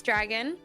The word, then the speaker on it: Jragon: My name is Dragon. It's spelled with a J, but it's pronounced the same as Dragon.